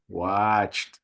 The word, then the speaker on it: watched: it uh-uh which no what's the correct pronunciation of these verbs come on watched you don't remember t or d uh t or d yeah so here we have a t so we have we